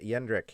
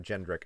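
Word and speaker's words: Jendrik: we got to see yendrick it's yendrick not jendrick i'm sorry my bad i should have realized that um i heard him pronounce his name so that's how i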